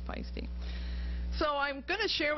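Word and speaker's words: Paiste: under its own name this pronounced pisty looks like paste but it's pisty so I'm going to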